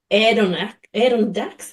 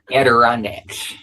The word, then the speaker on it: Adirondacks: So based in the boondocks of Adirondacks. How do you even say that? How do you say where you live? A-D-I-R. Adirondacks.